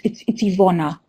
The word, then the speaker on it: Ivona: our other course moderator, so it's Ivona. I think I said Eva maybe, but it's Ivona.